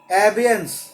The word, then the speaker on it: abeyance: Anyway, अगला word देखो, लिखो ABEYANCE, एबियंस, ABEYANCE, ABEYANCE।